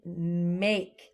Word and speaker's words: make: I would make. Let's get ready for that one. A. K. We have to put the silent E at the end of that to make the A say that long sound.